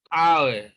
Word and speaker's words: hour: Again, you see that even though you have a consonant letter H, yet you see that in actual fact, this word begins with a vowel sound. An hour. This is the transcription. So H is silent here.